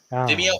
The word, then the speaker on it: Vimeo: It's actually on Vimeo. How do you say that? Vimeo, Vimeo, whatever it is.